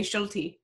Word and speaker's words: Schulte: it's like sure that I think it is actually pronounced shelter but here in Canada we say schulte ok cool shooting the